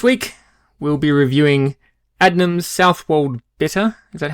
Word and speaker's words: Southwold: totally good this week we'll be reviewing adnan's south walled bitter is that how that's right how i